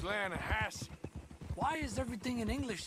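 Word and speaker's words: Lannahechee: some beautiful steelhead trout you mean the lahash river no no no no no no the the lah hatche it runs right near here yeah but it's pronounced lasse why is everything in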